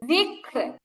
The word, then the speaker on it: ذكر: বিক্র بكر বিক্র بكر যিক্র ذكر যিক্র ذكر মানে ঠোঁটটা ছড়ায় রাখতে হবে জের বলার সময় ঠোঁটটা যেমন ছড়ায় থাকে রটা ঠোঁটটা ছড়ানো অবস্থায় উচ্চারণ হবে যিক্র ذكر র যখন মোটা